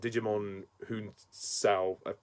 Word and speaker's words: Djimon Hounsou: And this movie stars Ralph Fiennes, Gemma Arterton, Rhys Ifans, and Djimon Hounsou.